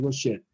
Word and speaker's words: Gaucher: Entonces, la enfermedad La AU se pronuncia como una O, entonces la enfermedad de Gaucher.